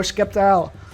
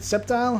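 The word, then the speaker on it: Sceptile: of you pronounce it I pronounce it septile septile X I say skeptical but I say septile when it comes to the name let me know in the comments how you pronounce it do you pronounce it with the k sound or with the C Sound the S sound Hoopa there is a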